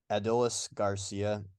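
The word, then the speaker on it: Adolis García: It's not a super hard one, but it's Adolis Garcia.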